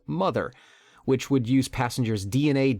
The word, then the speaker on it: MTHR: To salvage the dream of colonizing a distant planet, she ordered the use of a machine called MTHR, pronounced mother, which would use passengers